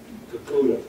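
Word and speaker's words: Kakuta: Or Tom, how do you pronounce that? Kakudo.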